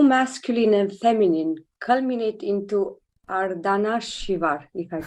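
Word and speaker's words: Ardhanarishvara: Nikil, do masculine and feminine culminate into Ardana Shivar? If I pronounce correctly is ardana shivar the transcendent consciousness which gave birth to masculine and feminine. So the term in Sanskrit is arda nari shwara ardha means half nari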